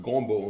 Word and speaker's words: gombo: And gombo, we'll talk about the term, and it's pronounced gombo in Francais, gombo.